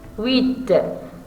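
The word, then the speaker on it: huit: 8, comme dans la phrase, elle a 8 ans. Ici, la lettre H est muette. On ne prononce pas le H.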